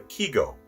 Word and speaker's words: kigo: In Japanese haiku, my daughter wrote, a season word is called a kigo. That's spelled K-I-G-O.